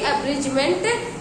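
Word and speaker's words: abridgement: को हटाया नहीं जाएगा, उसको प्रोनाउंसिएशन उसका भले ही नहीं करना है। तो ए बी आर आई डी जी ई एम ई एन टी, एब्रिजमेंट इज the correct spelling.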